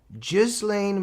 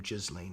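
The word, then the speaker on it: Ghislaine: Gizlane Maxwell, some say Gizlane. I think she even pronounces her own name Jizlane if I'm correct.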